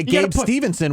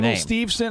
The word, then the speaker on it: Gable Stevenson: What you just said is something I'd be like, no, you're saying it wrong because that's not anyone's name. Gable Stevenson.